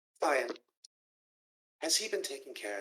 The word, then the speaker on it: Fian: It's spelled F-I-A-I-N, but what you want to sound it out would be F-I-E-I-N. Fian, has he been taking care of himself?